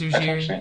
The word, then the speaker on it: Ujiri: I think it's Ujiri. You're saying it right.